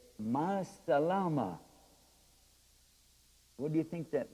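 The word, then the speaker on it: مع السلامة: Ma salama. It's real fast. Salama. You can even say it like that.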